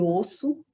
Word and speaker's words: osso: Osso, osso. A letra primeiro O Observem que eu pronunciei O. Já a segunda letra, o, eu pronunciei com som de U.